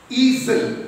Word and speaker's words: easel: It is called E-A-S-E-L, easel, but the pronunciation is E-A-Z-E-L, easel. That S again gets zar sound.